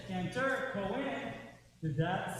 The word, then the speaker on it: Cohen: Which syllable in the word cantor gets stressed? The first or the second? The first. What about the word Cohen? What is that? The first.